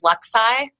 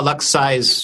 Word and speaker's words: LuxSci: Okay, so I'm a big fan of Luxi. Okay, spell that one.